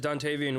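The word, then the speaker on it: Dontayvion: Dontavian? Yeah, good job. It's Dontavian Wicks.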